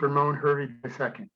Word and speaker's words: Ramon Hervey II: And the correct way to say my name is just Ramon Hervey II. Okay, Ramon Hervey II.